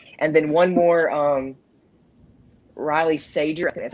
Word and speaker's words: Riley Sager: awesome yeah definitely and then one more um riley sager that's how you pronounce it very good highly recommend as a